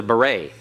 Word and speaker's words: beret: head he wears a beret well that et at the end the T is silent and that E is pronounced and long a it's like the the a like in the Spanish same you're the a